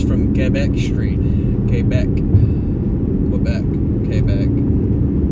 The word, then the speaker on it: Quebec: Kbeck. Pretty sure they pronounce it Kback in Canada.